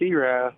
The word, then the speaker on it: Erath: wrong on the pronunciation, Erath, Louisiana, and that is Mr. Haiden Richard. Haiden, how you doing today? Good, man, good. And, yep, it's Erath. Everybody calls it Earth and everything else, but it's Erath, Louisiana.